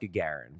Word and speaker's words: Gagarin: win all the cups it's pronounced Gagarin but got you got